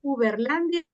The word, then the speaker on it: Uberlândia: en la Universidad, me dice doctora si lo pronuncio bien, la Sí, Universidad Federal de Uberlândia, Minas Gerais, sí, así, así.